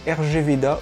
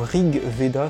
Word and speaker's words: RG Veda: j'ai lu et possède rg veda ou rig veda selon les prononciations qui est un manga